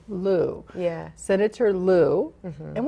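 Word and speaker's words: Liu: Lou. Lou.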